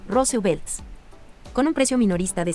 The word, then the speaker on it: RSVLT: La imagen icónica ha sido censurada por la reciente colaboración de Disney con la marca de moda RSVLTs, pronunciada, como señala la compañía, Rose Belts.